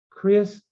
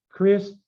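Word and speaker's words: Χριστιανός: Christianos. Notice the 2 vowels there. You can't say them together now because it's not a diphthong. So it's Christianos. Christianos.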